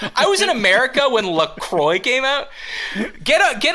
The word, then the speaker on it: LaCroix: whole topic without mentioning Lacroix the company insists pronounced LaCroix but really it should be Lacroix which when it first